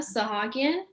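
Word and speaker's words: Sahakyan: good afternoon judge laick my name is sahagian is spelled r i m a sahagian is spelled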